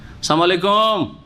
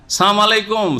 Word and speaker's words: আসসালামু আলাইকুম: মুসলিম সমাজে আজকাল জাহেল কিছু আছে, আসসালামু আলাইকুম আছে না দেশে, লামকে সাইলেন্ট করে দিল, দিয়ে কি বলে সালাম আলাইকুম।